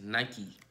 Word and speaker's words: Nike: the says night its Nike everybody knows a Nike mi ke like me Nike in my teeth